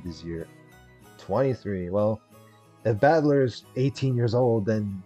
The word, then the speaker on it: Battler: the characters for fight and person and is pronounced badler yeah you're not the fighter type of guy that's for sure which is kind of ironic put it all together and you've got ushiramiya battler pretty crazy right it's crazy enough that my